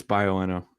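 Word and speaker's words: Bioenno: The 80 amp hour Bioenna. I don't know. I'm probably not pronouncing that right. Yeah, it's Bioenna. You got it.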